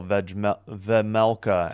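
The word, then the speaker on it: Vejmelka: So, yeah, Yaroslav Askarov, number 30, is in net for San Jose, and Karel Vemelka, I think the J is silent, for the Utah Mammoth, number 70.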